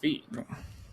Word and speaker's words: Fi: well I'm sorry well fee from Skyward Sword is pronounced fee of the two of